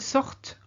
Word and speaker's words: sortent: Vous sortez, and ils sortent or elles sortent. Here, because you've got the ENT, you have to say the final T of the stem sort, so sort.